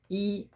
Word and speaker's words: 一: Now I would like to show you how to pronunciation in Chinese with the number. Number one. Number one, the Chinese is E.